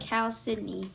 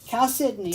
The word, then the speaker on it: Chalcedony: somebody said it's pronounced Chalcedony. Chalcedony.